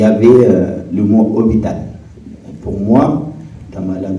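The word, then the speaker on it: hôpital: euh par le mot hital et je prononcé le H et lapr il m'a dit nonz on prononce pas le H j'ai dit ah bon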